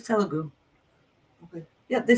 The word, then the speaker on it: Telugu: It's Telugu. Okay. Yeah, they said I pronounced it right.